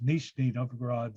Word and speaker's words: Nizhny Novgorod: And you're a visiting professor, and I'm not going to try and pronounce it in Russia. What is the? Well, I will butcher it too. It's Nizhny Novgorod State University.